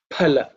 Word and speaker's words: phala: But the accurate Sanskrit pronunciation is pa, aspirated pa, okay? Phala.